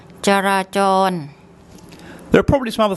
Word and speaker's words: จราจร: So what we have here, we have the Georgian J consonant, and then we have to put in an implied vowel, ja. Then we have the ro-rua and a long R, ra, and then we have again another Georgian and the ro-rua. So I'll get Pom to say that for you. จราจร จราจร จราจร There are probably some